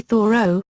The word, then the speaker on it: Thoreau: be pronounced vu row with the H sounded and stress on the first syllable another perhaps more common